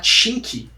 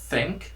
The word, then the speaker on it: think: Então olha só, a palavra thank, o brasileiro fala chink. O TH, pronúncia tá errada, né? É think, não tin.